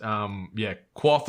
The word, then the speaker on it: Kvothe: Quoth, like it's spelled Kvothe. Oh, okay. But it's actually pronounced Quoth or Quoth.